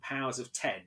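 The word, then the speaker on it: Powers of X: together and it is house of x and powers of ten although it is shown as an x but it's pronounced out of ten um jonathan hickman comes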